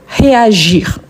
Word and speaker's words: réagir: Ici, on prononce bien le r, réagir.